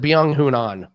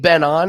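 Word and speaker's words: Byeong Hun An: know how to print is it been on or is it beyond hoon on because it depends on what announcer we get but i i think ben on is is the way to pronounce it nick is that right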